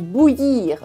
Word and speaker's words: bouillir: To boil something is bouillir. Bouillir with the y sound in it.